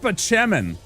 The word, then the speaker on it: Spaceman: It's pronounced Spachemin.